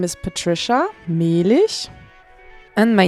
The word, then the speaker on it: Mehlich: how beautiful their names are when they are pronounced as they should be uh my name is Patricia Mish and my name is adelene odier joining the